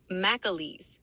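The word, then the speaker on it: McAleese: at the 16th annual um Mic what um McAlese Defense Programs Conference in Arlington, Virginia Tuesday, March 18th. Is that how you say that? McAlese McAlese Mic How do What is that? It's pronounced McAlese.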